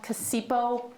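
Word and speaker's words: Cacioppo: According to the University of Chicago's John, I think his name is pronounced Casipo, but everybody says Bruce, and it's fine, Bruess, Brucey, but I'm always careful about.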